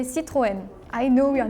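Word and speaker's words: Citroën: like okay acceptable yeah in France we say Citroen I know we are not famous oh in Spain it is quite famous yeah we have plenty in Japan we sayen in Turkish we say Citroen German we would like try to say like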